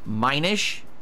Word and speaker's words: Minish: mentioning those did I it's pronounced Minish okay I know they're